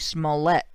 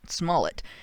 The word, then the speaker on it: Smollett: you look at and I've been told I'm mispronouncing his name. It's Jussie Smollett, not Smollett, but Smollett.